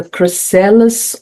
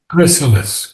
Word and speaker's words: chrysalis: The cryelis of thro chrysalis.